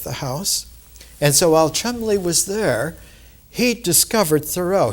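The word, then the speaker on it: Cholmondeley: And it's interesting because when a man named Thomas, it's pronounced Chumley, but it's spelled Chomandale, when Thomas Chumley came from England to Concord, Massachusetts with letters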